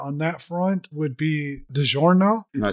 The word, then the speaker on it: DiGiorno: DiGiorno. I mean, I might have been pronouncing it slightly different, but DiGiorno is definitely not how...